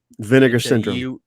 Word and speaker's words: Vinegar Syndrome: Pronounce it correctly. Vinegar Syndrome. It's a UH at the end of vinegar.